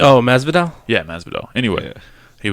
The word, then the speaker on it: Masvidal: Oh, Masvidal.